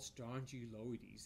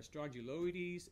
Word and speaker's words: Strongyloides: confusing that it's called Strongyloides it almost sounds like it's a strong jaw parasite it rhymes with it the first syllables of that word is identical but it's not a